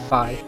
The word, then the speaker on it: phi: Now, there are ways to pronounce this Greek letter. Phi, phi. The Japanese katakana spells out phi. I'll say whichever one y'all want. I'll go with phi for now.